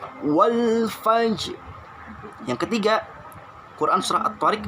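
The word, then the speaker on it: وَالْفَجْرِ: Tulisannya wal fajri, jangan dibaca wal fajri, tapi wal fajr. Ayat pertama Al-Qadar ayat 1, inna anzalnahu fi lailatul qadr. Yang kedua Al-Fajr ayat 1, wal fajr.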